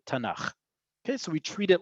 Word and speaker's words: Tanakh: We don't say taf nun khaf, we say Tanakh.